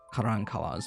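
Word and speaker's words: Karankawa: Most striking element of the Carancawa's body decoration was the practice of tattooing their faces with blue lines, and perhaps even figures.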